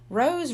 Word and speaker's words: Rose: Rose rhymes with toes and nose.